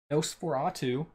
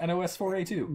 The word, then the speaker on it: NOS4A2: Come on, that's just you would not have guessed that's how that pronounced from watching that, from reading that. No. Did you? Why did you never say that? I kept calling it NOS4A2.